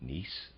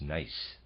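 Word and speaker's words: gneiss: have looked up the word g-n-e-i-s-s i've been pronouncing it nice i apologize the correct pronunciation is nice and the readers aside i did tell you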